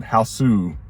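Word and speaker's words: ハウス: But this one is released in 1977, spine number 539, and this one is they pronounce it Haosu, even though it says house in the back, but in Japanese it's Haosu.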